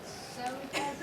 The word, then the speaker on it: Soda: And I'm Soda, which they changed the spelling to soda, like soda pop.